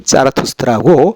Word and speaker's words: 짜라투스트라: 아베스타어인데 그 아베스타어에서 이 원 발음이 짜라투스트라고.